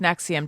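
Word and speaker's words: NXIVM: is spelled like nx it's all roman numerals right but it is pronounced nexium jordan you're right which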